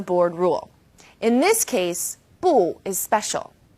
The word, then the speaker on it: 不: When used on its own, 不 is fourth tone, 不. When 不 is used before another fourth tone, it becomes second tone, 不谢 or 不用谢.